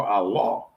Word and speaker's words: Allah: So understand this is our king, our sovereign, our shaya, our allah pronounced a l ah Allah. They want to put a e in front of and say it's a soft e but it's the alaf